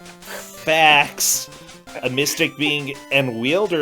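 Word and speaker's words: Phfax: Your name is Fax, and that's spelled P-H-F-A-X. Just in case you didn't know there was an F sound, they put both PH and F in there. Fax, a mystic being and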